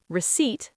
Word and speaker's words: receipt: three soft th comfortable three syllables receipt silent p vegetable three syllables island